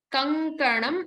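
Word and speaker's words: कङ्कणम्: Kankanam, and stress on the ka because there is another consonant, so it's a sayukta aksharam.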